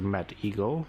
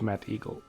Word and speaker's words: Mettigel: Well, of course there is a Mad Eagle.